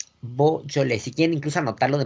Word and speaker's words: Beaujolais: La región de Beaujolais. Beaujolais. En español y en francés. Ahí sí se conoce como Beaujolais. Beaujolais.